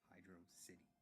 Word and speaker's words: Hydrocity: However, the entire thing was finally fully put to bed when Yuji Naka himself said it's meant to be pronounced Hydro City.